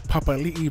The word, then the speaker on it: Papali'i: For me, I knew it was Josh Papali'i, but I always say Papali'i or Papali.